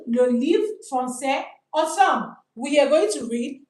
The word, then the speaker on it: ensemble: Ensemble, not ensemble. No, it's ensemble. BLE, but the L is not pronounced, okay?